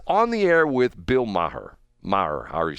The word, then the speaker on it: Maher: He's on the air with Bill Maher. Maher, however you say his name. I always get it. I want to say, is it Maher or Maher? Just Maher. Mah.